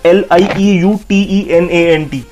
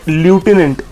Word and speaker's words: lieutenant: सो इट्स नॉट ल्यूटिनेंट. यहाँ पे लेफ्टिनेंट colonel को लोग प्रोनाउंस करते हैं ल्यूटिनेंट colonel, but इट्स लेफ्टिनेंट. और लेफ्टिनेंट की भी जो प्रोनाउंसिएशन है इट्स लेफ्टिनेंट, LEFT -I, lieutenant, TENANT. So our next word is